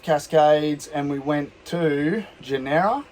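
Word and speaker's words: Tjaynera: and we went to genera it's like t-j-a-y-n-e-r-a i think it's a silent t um and it was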